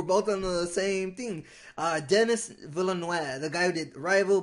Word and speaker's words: Denis Villeneuve: Denis Villeneuve, the guy who did Arrival, Blade Runner 2045, Sicario. It's Denis Villeneuve. Okay. That's how you pronounce that name.